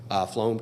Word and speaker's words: Flum: of the briefing in the underlying Floam case. Am I pronouncing that right? Flum? Yes, my understanding is you are.